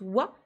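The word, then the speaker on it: は: phrase ici c'est bien la particule de thème wow donc qui s'écrira mais qui se prononce wa donc ça c'est le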